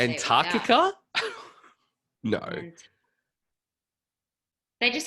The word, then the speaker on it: Antarctica: which that people in America call Antarctica.